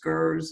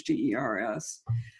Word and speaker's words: Gers: David Pine and Glenn, I think his last name is pronounced Gers, or I think it's Gers, G-E-R-S. We'll go with Gers.